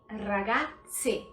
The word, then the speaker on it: ragazze: Veja que tem que ter bem forte esse som de E. Por quê? Porque tem que se diferenciar de ragazzi, si, se.